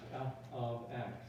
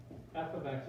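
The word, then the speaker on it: f(x): of x it's pronounced f of x it's short for function of x f of x is short for function of x that's what it means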